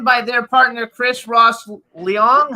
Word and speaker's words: Leong: It's written by their partner, Chris Ross Leong. How do you pronounce it?